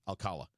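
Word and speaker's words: Alcalá: I keep saying his name wrong. Alcala. I'd keep him.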